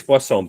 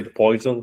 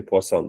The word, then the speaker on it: Poisson: The pronunciation is Poisson, please. Don't say Poisson, say Poisson, because there is Poisson also like model poisoning. So it's the French pronunciation, so it's Poisson.